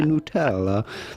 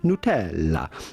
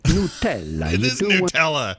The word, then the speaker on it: Nutella: you can always say nutella but with the typical italian pronunciation how would you say it in italy well that would be nutella nutella so forget hey lemonade